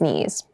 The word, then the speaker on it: knees: hard keep in mind yes this word begins with a K in spelling but the pronunciation is KN the boy fell and scraped his knees the boy fell and